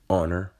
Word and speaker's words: honor: no h there and when i say the word honor there's an h in the word but it doesn't make a sound so therefore yes it is silent other words like rough